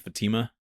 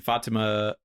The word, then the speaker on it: Fatima: But anyway, the entire issue is a conversation between Chris and Fatima. Is that how you say it? Yep. Fatima?